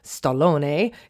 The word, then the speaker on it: stallone: because stallone or it would have been pronounced stallone in italian is italian for stallion